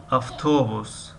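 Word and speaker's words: автобус: مثل کلمه اوتوبوس، اوتوبوس می نویسیم و افتوبوس می خوانیم.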